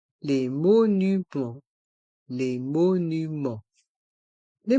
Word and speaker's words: monument: monuments dans le mot monument il y a le son en avec les lettres e et N et le T le S sont mués les monuments les monuments les monuments un musée un château